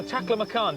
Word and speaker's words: Taklamakan: Carolyn is the first woman to ever walk across the Taklamakan Desert. Is that how it's pronounced?